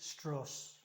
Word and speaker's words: Strauss: That's how he pronounced it, Strauss.